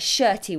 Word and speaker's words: shirty: It's a male name, Bertie. So I've said, listen, Bertie, don't get shirty with me. All right. Listen, Bertie, don't get shirty. Hopefully that will help you to remember the pronunciation.